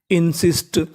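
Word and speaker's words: insist: एस टी लिखा मिले तो एस टी का उच्चारण होता है स्टा। क्या होता है? स्टा। तो मीनिंग बनी इनसिस्ट, इनसिस्ट, इंसिस्ट, इंसिस्ट।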